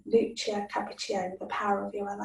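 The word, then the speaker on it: Capacchione: So a book that's really interesting to read about this is The Power of Your Other Hand by Lucia, I think you pronounce it Cappuccione, Lucia Cappuccione, The Power of Your Other Hand.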